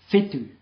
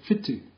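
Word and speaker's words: whitu: listen to this one some people get this one wrong because they or they pronounce it wrong they say fetu instead of fu fu is star fu is seven waru Ewa theod k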